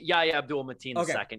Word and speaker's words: Yahya Abdul-Mateen II: From Candyman, Yahya Abdul-Mateen II.